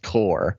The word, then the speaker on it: corps: community corps like i get it the corporations pronounced core yeah i know but come on man come